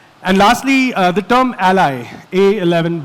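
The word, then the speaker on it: a11y: And lastly uh the term ally A1 11 Y. It's pronounced ally because it's a truncation of the word accessibility which is A and Y and 11 letters in between.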